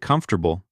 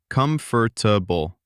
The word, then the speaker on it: comfortable: And comfortable. This one gets people. It looks like it has four syllables. Comfortable. But most native speakers say it in three. Comfortable. Comfortable. Comfortable. Yes, that middle syllable just disappears in natural speech.